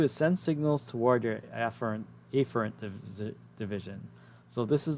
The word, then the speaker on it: afferent: mispronounce it and say afferent like a letter a and then e fern so i'm going to say a fern and ephraim just to make it very clear what